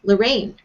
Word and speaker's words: Lorane: And it's the second syllable of my name. It's Rain, Lorraine.